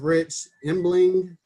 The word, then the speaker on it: Rich Embling: Today we have Rich Embling. Did I pronounce that right, Rich?